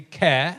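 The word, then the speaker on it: Ker: that was you and Tom tuck and Humphrey care car spelt like I think it's a vehicle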